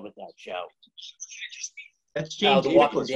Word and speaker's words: Chiklis: That's James Chiklis, right? How do you pronounce his name?